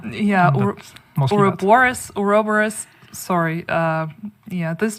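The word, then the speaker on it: Ouroboros: specific incursion that is called or I cannot pronounce it for the life of me oros so this this giant just say yeah oroborus oroborus sorry uh yeah this giant snake but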